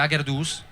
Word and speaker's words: Agherdoss: Sì, abbiamo storpiato semplicemente l'accento e in piemontese sarebbe Aggerdus, però non ci dava molta dolce, quindi Ah, adesso ho capito. Non ci dava molta credibilità, forse Agerdus. Beh, e allora abbiamo detto, vabbè, mettete un po' l'accento dove volete, noi ci chiamiamo Aggerdos, però poi Agerdos,